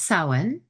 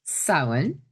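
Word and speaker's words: Samhain: That's sin. And it's spelled s a m h a i n, but it's pronounced sin.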